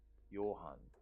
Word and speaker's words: Johan: That's like the pronunciation of John in Korean when you like, I don't know, it's more like it's not like an English pronunciation, but more like I don't know where the European country is, but more like a European pronunciation, I think.